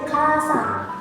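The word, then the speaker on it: 河川: Maka dia dibacanya itu bukan kawa lagi, tapi sang. Jadi bacanya kasang, yang artinya sungai-sungai.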